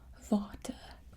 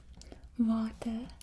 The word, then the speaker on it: water: water that it's pronounced water water so remember like W is a V sound water and of course